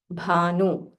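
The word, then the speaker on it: भानु: Bha is Mahaprana. So say it with aspiration. Bhanu.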